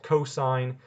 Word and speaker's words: cosine: The abbreviation COS out loud is called cosine, and then the abbreviation TAN is pronounced tangent.